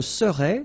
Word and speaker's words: serais: Je serais, same thing here, final S not pronounced. Tu serais, final S not pronounced. Il serait, final T not pronounced.